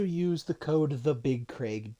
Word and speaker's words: Craig: Or you could also use the code the big Craig D. That is the big Craig D or Craig, but it's C R A I G. So he pronounces it Craig.